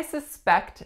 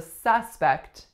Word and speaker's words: suspect: So which syllable am I stressing in this word? The second one, right? And that tells you that it is a verb, not a noun. So I suspect that it's going to rain later. I suspect. So first syllable was schwa, second syllable was e. As a noun, our stress is going to flip, and we are going to say suspect.